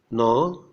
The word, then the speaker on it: gnaw: In GN, G is silent, as in resign, consign, benign means kind, foreign, gnaw, GNAW, that means bite, gnash means strike teeth, as in anger.